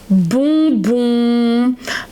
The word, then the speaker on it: bonbon: But look at my mouth. You will say en, you open the mouth. You say you close it. Okay, you almost close the mouth. Actually, you can say with the mouth closed. Well, no, it's not working. It's like just a little bit, okay? You can find this sound in the words, for example, bonbon, maison.